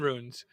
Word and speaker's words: runes: Well, you might be in runes. I don't know. I'm not sure. Well, the Dark Genius gets it. Ruins has a pronounced I. Runes. Or ruins. Well, in America, that I is silent.